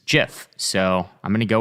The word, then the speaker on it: GIF: Reviving The age-old Debate is it pronounced GIF or GIF well if it matters to anyone in a 20 interview will height himself said it was JF so I'm going to